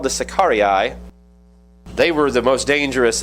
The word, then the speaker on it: Sicarii: Sicarii is how you pronounce it in Latin. Sicarius is the singular. Sicarii is the plural.